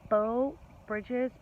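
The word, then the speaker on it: Breaux Bridge: Orange Beach Alabama to I believe it's pronounced bow Bridges b-e-a-u-x Bridge Louisiana um I believe it's outside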